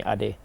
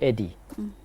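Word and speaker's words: Ade: you Eddie I'm like it's the same two syllables ad and Eddie so why call me Eddie when you can call me ad what's the struggle but just they kind of condition themselves to say it's a difficult name no it's not a difficult name it's two syllables you know and so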